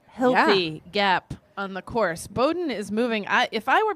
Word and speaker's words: Bowdoin: Is that how you pronounce it? It is Bowdoin. Bowdoin.